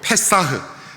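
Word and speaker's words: פסח: 유월절, 히브리어로 페사흐, 영어로 패스오버. 페사흐, 패스오버. 왠지 발음이 비슷하지요?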